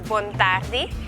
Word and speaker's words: Bontardi: Good morning is bon dia, good afternoon is bon tardi, and good night is bonochi.